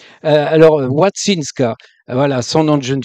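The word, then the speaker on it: Łączyńska: donc il faut le le l barré se prononce wou bon alors ça fait wattinska c'est C Z ça fait t hein t alors watinska voilà son nom de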